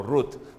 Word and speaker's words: Ruth: rute 1 a cirurgia se pronuncia o te no final ruth tá porque essa é